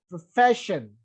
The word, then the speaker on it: profession: So my point is, if any word ends in ION, then penultimate syllable should be stressed. So that's why application, examination and profession, right?